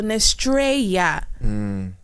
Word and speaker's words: Nestreya: gonna use the TR we're gonna use the e y a but the same pronunciation as Estrella and we're going to use Ness so nestreia I know you're probably